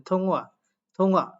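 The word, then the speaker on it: 통화: একটু নোট করে দিচ্ছি থম থং উচ্চারণ করার কথা বাট ইয়ং বাচ্চিমের পরে হিউ থাকলে হিউতের উচ্চারণটা সাইলেন্ট হয়ে যায় থং থং অর্থাৎ এটা ফোনে কথা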